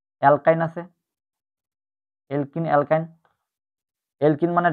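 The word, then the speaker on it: alkyne: এলকিনের উচ্চারণটা হয় ইনের মতো, ইনের মতো। অ্যালকাইনের উচ্চারণ হয় আইনের মতো, YN, আইনের মতো।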